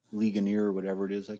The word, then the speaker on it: Ligonier: Yeah, it's on the Ligonia, East Coast. Pennsylvania. How do you say that? How do you say that? The name of that I don't town? know. Ligonier.